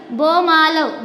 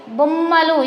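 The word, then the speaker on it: బొమ్మలు: Here see, bomalu. Bomalu is right. Bommalu. Here when we write, when we pronunciation double sound, you write that double ottulu.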